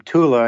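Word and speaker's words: Thule: want if you ever heard hear the name tula and you don't see the spelling it's spelled t hu l e but that pronunciation is Tula or the H of science silent and it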